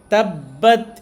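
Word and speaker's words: تبت: যেখানে তাসদিদ থাকবে ওই জায়গাতে দুইটা হরফ উচ্চারণ করতে যে টাইম বা সময় লাগে, সেই টাইম ওখানে ওই হরফটাকে ধরে থাকতে হবে। যেমন দেখুন, এখানে শুরুতেই তাসদিদ আছে, এখানে কিভাবে পড়বো? তাব বলে একটু ধরে রাখবো, তারপরে বাত বলবো।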